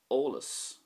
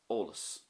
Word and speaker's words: eolas: So for example, olus would be information. So there's no great emphasis on the first part of that word, olus.